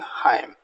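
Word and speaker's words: hymn: जैसे हाइम, हाइम में आप देखेंगे एन को एम के बाद लिखा हुआ है तो इसका प्रोनाउंसिएशन नहीं बोलेंगे, अब इसको बोलेंगे हाइम।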